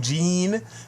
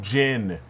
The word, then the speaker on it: Jin: and water same thing but jean and Jin come on dude the game even has his name um pronounced the right way the Japanese version of the movie has his name pronounced the right way and they every single character said his name wrong moku jein it's moku Jin and this is the